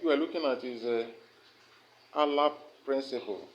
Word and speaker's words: ALARP: The next topic we are looking at is ALAP principle. ALAP is spelled ALARP. ALARP.